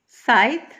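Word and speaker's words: scythe: is used for डिगि साइत ये सी silent होता है इसको साइत पढ़ते हैं अ साइत इज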